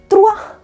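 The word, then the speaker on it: trois: दो को बोला जाता है द, टू को द बोला जाता है, थ्री को त्रुआ, त्रुआ को इस तरीके से लिखा जाता है।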